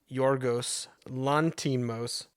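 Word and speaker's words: Yorgos Lanthimos: The director, and I also looked up how to say this, is Yorgos Lantimos, and he also made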